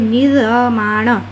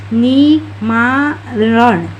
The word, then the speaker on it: निर्माण: ये क्या हो गया हम लोगों का और यदि यहां दे दिए तो ये हो गया नी मा रण। इस तरह से मतलब र का उच्चारण जो वर्ण में रेफर लगता है उससे पहले हो जाता है।